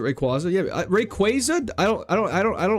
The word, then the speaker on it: Rayquaza: I pronounce it Rayquaza.